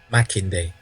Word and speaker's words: Makinde: Go on, tell me again how it's pronounced. Makinde.